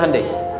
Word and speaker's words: Hyundai: di sana bikin Honda sini hundai Hyundai kan dibacanya hundai kan sana Honda sini